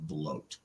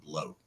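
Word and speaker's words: blót: a Nordic word and it's spelled b-l-o with a dash above it t emphasizing that it's an o sound brought uh grammatically in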